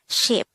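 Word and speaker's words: 십: one set of ten but this should simply be pronounced as ship next is number twenty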